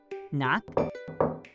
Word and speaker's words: knock: with a silent k knock and knob we do not pronounce the k at the beginning of these words just like we do